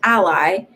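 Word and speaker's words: Alai: said jake ducey joseph a l a i pronounced ally roxy talks i like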